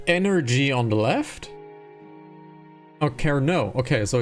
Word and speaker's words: Kernow: But 10 out of 10 for pronunciation. So Kernow, okay. So it's Kernow.